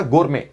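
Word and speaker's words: gourmet: एपिक्योरियन correct word लिखा था गोरमे। हाँ, टी साइलेंट था।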